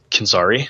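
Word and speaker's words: Canzeri: I hope I'm pronouncing that right. Canzari, thank you.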